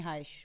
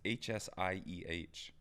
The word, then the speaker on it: Hsieh: It's Tony Heish, by the way. But yeah, I know what you're saying. It's Heish? Yeah. I thought it was Hsieh. It's Tony Heish is how you pronounce it, I believe.